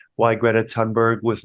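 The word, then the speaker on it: Thunberg: case for why Greta I didn't know that you didn't pronounce the h why Greta tunberg was not an effective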